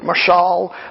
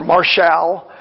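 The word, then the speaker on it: משל: Some would pronounce it mashal or marshal.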